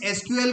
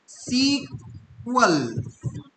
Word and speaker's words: SQL: तो इस एसक्यूएल को आप बोलेंगे, एसक्यूएल भी बोल सकते हैं और सीक्वल, है ना। तो प्रोनाउंस बोलने का जो तरीका होता है वो दो तरीके से बोल सकते हैं।